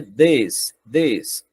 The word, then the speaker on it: this: Ok, então, nós temos aqui esse, a pronúncia dele é this, como se tivesse um E, this.